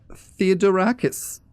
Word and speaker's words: Theodorakis: guest with us at the moment it's Maria theodorakis did i pronounce that correctly you did you did and